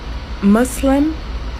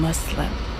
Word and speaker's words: Muslim: in the previous video somebody commented that I was pronouncing Islam and Muslim wrong cuz I was using a z sound instead of a so a soft s and I don't know